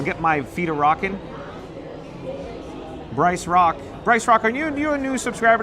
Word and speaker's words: Bryce Rock: But Bryce Rock, it sounds or rhymes with Joyce Bach.